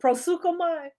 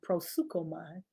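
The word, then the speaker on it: proseuchomai: a prison okay how do you spell what prosuka my you spell it p r o s p r o s e u c h o m a i prosuka my p r o s e u c h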